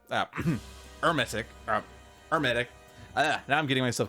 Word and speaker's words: Hermetic: Which is at least something we can use to hit Hermetic. Hermetic. Hermetic. Now I'm getting myself confused. H is silent, the emphasis is on the second E.